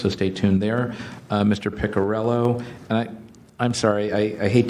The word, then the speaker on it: Piccarello: So my last name, yes, Piccarello.